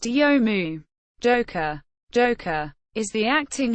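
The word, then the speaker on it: 読む: Mania the verb to read in Japanese is pronounced yomu Joker Joker is the acting head of the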